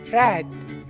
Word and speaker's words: read: Read yang artinya membaca, bentuk ketiganya menjadi read. Jadi penulisannya sama, tapi cara bacanya berbeda. Read. Cara bacanya seperti nama warna, red.